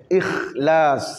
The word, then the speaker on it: Ikhlas: Il ne faut pas prendre le KH comme en français, ik. Non, Ikhlas.